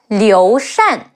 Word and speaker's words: Liu Shan: state of Shu Han, Liu Shan. L-I-O, Liu, Shi An, Shan. Remember the rule? Shi An, Shan. Liu Shan.